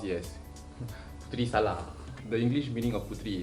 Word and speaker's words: putri salad: Okay, so I believe, like I mentioned, this is pronounced as putri salad. They pronounce it as putri salad.